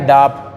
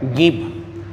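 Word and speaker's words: ङीप्: तीसरा है गीप, ये जो है ये इसको डीप ना पढ़ें, ये अंग की बिंदी लगी हुई है तो नाक से उच्चारण होगा तो इसको पढ़ेंगे गीप। ग है गीप, ऐसा पढ़ेंगे, इसको डीप नहीं पढ़ेंगे, इसको गीप पढ़ेंगे।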